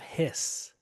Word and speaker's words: His: is a bundle of hiss the sound like a snake makes but it's spelled his H which is a collection